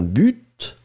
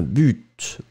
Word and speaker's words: but: Certaines personnes vont prononcer le T, d'autres ne vont pas le prononcer.